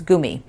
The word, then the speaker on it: gummy: about like gummy bears which yes that is the proper way to say it it's not gummy because if you grew up in Germany and you ate them there first you speak it like a German and it's Goomy but for me that's